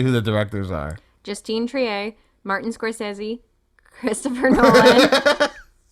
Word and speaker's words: Justine: of a fall no Justine Tri Justine Trier of another you can't say Justin because that makes it sound like a guy it's not I'm not